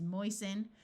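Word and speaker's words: moisten: T like in listen oi says oi so this is moisen note that the root is moist but when we add the suffix the T sound disappears hasten the same thing happens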